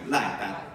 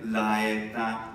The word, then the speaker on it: laeta: più leggero nel latino, però io dico I, cioè non I, ma I, proprio laita. Laita. Bene, cioè praticamente è molto simile a I. E il mio consiglio è non dire laeta, ma meglio dire, non, se hai, è troppo difficile da fare, facciamo come italiano, laeta, perché laeta.